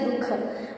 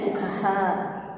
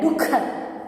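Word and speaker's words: दुःख: Yes, actually whenever you used to call, casually we used to say dukha, but the correct pronunciation is dukha. Okay, that aha sound should be there, dukha.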